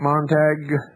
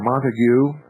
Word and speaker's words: Montague: off and quote sergeant montag or montague and i believe the second pronunciation is correct sergeant montague of the